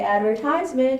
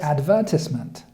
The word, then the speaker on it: advertisement: see the difference right so I say advertisement and he says advertisement okay so he's gonna read